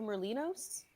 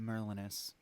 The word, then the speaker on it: Merlinus: Is that the peddler Merlinos? I pronounce it Merlinus.